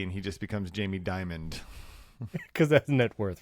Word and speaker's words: Dimon: Diamond. Like diamond without the D. Like The Rock. Jamie Dimon. When he retires, he gets the D and he just becomes Jamie Diamond.